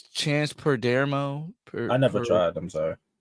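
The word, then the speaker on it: Perdomo: This past weekend, the cast of Gen V and us as fans, we suffered quite a loss with Pedro Pendermo.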